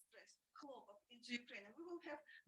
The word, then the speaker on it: хлопок: In the Russian language, homograph of name is pronounced with the first syllable stressed, хлопок. And if we translate with the first syllable stressed, хлопок, into Ukrainian, we will have bavovna.